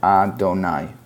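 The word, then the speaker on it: אֲדֹנָי: So instead of pronouncing it as it looks, that is just God's name, and we pronounce it Adonai.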